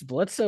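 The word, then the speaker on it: Blitzø: It says pronounced Blitz, but you know the the O doesn't have a slash.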